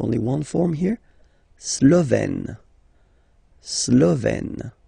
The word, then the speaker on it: slovène: Slovène. Remember, E accent grave, you open it, est, Slovène.